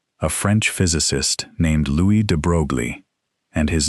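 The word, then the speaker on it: de Broglie: In the 1920s, a French physicist named Louis De Brogley, and his name is pronounced de Bruy, in case you were wondering, proposed something audacious.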